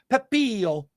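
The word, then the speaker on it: Pepiot: Ryan Pepillo.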